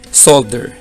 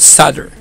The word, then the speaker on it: solder: So I'm a Filipino, that's why I say solder. So I pronounce by spelling, but if you're from the USA, European, they call it solder.